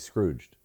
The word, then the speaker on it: Scrooged: he's screwed no he's Scrooged oh shoot I thought the G was silent Oh piss off G wait it is a soft G he's